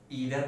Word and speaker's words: either: याद रखेंगे प्रोनाउंसिएशन पे विशेष ध्यान देंगे। इसको ईदर पढ़ते हैं, उसको नीदर पढ़ते हैं।